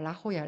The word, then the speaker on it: La Jolla: La Jolla. La Jolla가 아니라 La Jolla입니다. 예. J 발음이 H 발음으로 하죠.